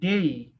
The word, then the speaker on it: day: ওকে, বাচ্চারা শুনো, এই যে DAY, এটা উচ্চারণটা হবে হচ্ছে এইভাবে যে ডেই, ডেই রস্যই আসবে একটা, ডয়কারে ডে রস্যই। হ্যাঁ, ডেই উচ্চারণটা আসবে ডেই, মনে রাখবা আর কি।